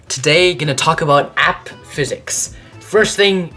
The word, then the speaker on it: AP: going to talk about app physics first thing it's not pronounced app physics it's AP Physics AP standing for advanced placement essentially and this is